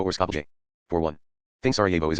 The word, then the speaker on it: Skopje: if it is spelled Skopje. The O is short, and all the letters after it are combined into a single sound.